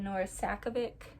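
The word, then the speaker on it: Nora Sakavic: I think it's really impressive that Nora Sakovic, that's how you pronounce her name, created like a whole fictional sport with rules and everything and like a regulation committee.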